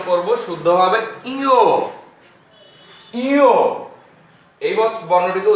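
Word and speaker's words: ঞ: এই বর্ণটিকে আমরা প্রকৃতভাবে উচ্চারণ করব শুদ্ধভাবে ইও। ইও, এই বর্ণটিকে উচ্চারণ করব ইও।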